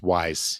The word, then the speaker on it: Ys: So, first of all, I've been playing this Ease Memoire, the Oath in Felghana. I think that's pronounced wise.